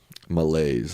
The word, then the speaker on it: malaise: Malaise, that's how you say it.